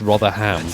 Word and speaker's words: Rotherham: when it's like rotherham no one pronounces the h in that it's rotherham guys can